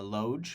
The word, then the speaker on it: LOGE: Uh loge which is pronounced lodge stands for live outside